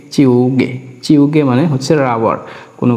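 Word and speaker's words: 지우개: এখানে জিউতের উচ্চারণটা হবে চর মতো, তার মানে চি, এরপর আছে ইউং উ, গিয়কের উচ্চারণ হবে গয় গয় যুক্ত একার, তার মানে হচ্ছে এখানে চিউগে, চিউগে, চিউগে।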